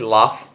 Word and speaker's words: laugh: Olha só, laugh, se pronuncia assim como se tivesse um F, laugh, é rir, read, ler,